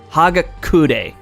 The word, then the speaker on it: Hagakure: Hagakure. That's how you pronounce it.